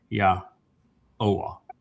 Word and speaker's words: Yahowah: So it's not Yaho, it's Yah-O, because the O sound comes from the wah. That's the third letter and it's the third vowel. And then you have the last sound at the end. So it's Yahowah, not Yahowah.